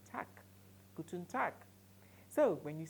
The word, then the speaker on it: Tag: guten tag guten tag take note of my pronunciation I am the pronouncing tag I am pronouncing tack guten tag so when